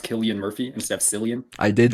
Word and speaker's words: Cillian: Did you know that it's pronounced Killian Murphy instead of Cillian?